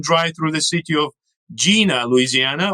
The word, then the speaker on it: Jena: Or in Louisiana, they can drive through the city of Jena, Louisiana, although it should be pronounced Jena, also named after the Great Battle that Napoleon won against the Prussians.